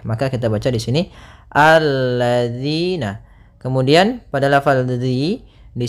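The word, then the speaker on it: الَّذِينَ: kita baca di sini alladziina Kemudian pada lafal dzi di sini hati-hati dalam pelafalan dzi Jangan dibaca alladzina yang sering terjadi kesalahan adalah membacanya dalal dengan Zai kemudian di sini ada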